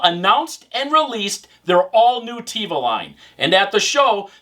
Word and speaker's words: Theva: ones and yes even though it's th it's pronounced Teva not thiva at least that's what the guy said focal